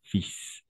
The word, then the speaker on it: fils: de la cholesté ici fils pas fine fils on ne voit pas prononcer le l à la fin tout simplement je suis